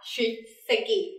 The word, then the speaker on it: 出席: Có mặt ở đây mình sẽ đọc là 出席.